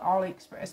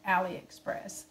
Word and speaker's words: AliExpress: to do a aliexpress i call it aliexpress but it's i think it's actually pronounced aliexpress but i'm gonna do